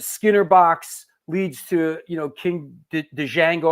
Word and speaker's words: Django: Box leads to King Django. Am I pronouncing that right? Django? King Django, yeah.